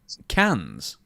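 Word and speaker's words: Cannes: How do you pronounce that? Say it again. C music festival. C A N E. Cans. Is that the way you say it? Yes. C A N E S. Yes. Cans.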